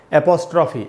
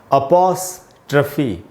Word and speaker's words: apostrophe: पढ़ लेते हैं लोग, ऐसे एपोस्ट्रॉफी ऐसे करके पढ़ लेते हैं। मैं आपको इसका शुद्ध उच्चारण बताता हूँ। इसका प्रोनाउंसिएशन है अपॉस्ट्रफी, अपॉस्ट्रफी।